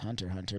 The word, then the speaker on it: Hunter x Hunter: favorite anime it is Hunter x Hunter I have no idea but Chris Dude any words uh it's just pronounced Hunter Hunter but yeah um Hunter